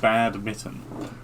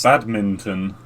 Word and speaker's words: badminton: like you're saying it sounds like you're saying bad mitten i ain't like a naughty glove yeah i mean that's badminton minton oh okay yeah yeah it's it's it's that boston accent we we tend to drop consonants there's a lot of